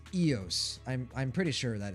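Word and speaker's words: Eous: Flimmer, side note, why do you pronounce it Ius? Isn't the pronunciation Eos? I just say it the way my body instinctively like reads it in that moment of time. I know the correct The correct pronunciation is Eos.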